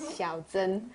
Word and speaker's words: Xiao Zhen: yeah, but the correct pronunciation is Xiao Zhen.